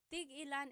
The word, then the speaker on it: tig-ilan: So tig ilan, when there's a hyphen in it, you have to have that glottal stop.